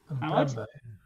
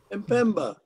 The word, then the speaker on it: Mpemba: Mpemba. Mpemba. Say it again. Mpemba. Mpemba. Right. Okay. So M is a separate letter, really.